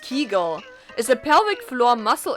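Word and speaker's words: Kegel: Kegles. Is that how you pronounce that? A kegle. Keigle. It's pronounced keigull is a pelvic floor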